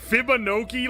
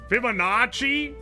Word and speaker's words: Fibonacci: So, so saying Fibonkoki like it rhymes with chibi is wild. Fibonacci If I had some eccentric ass accent, you guys would be like, "OMG, he's so beautiful."